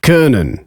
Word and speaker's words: können: To pronounce O umlaut, all you have to do is round your lips for O while saying Österreich, können.